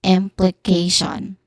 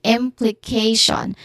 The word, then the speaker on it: implication: So this is implication. Again, implication. K is the third syllable and the stressed syllable here.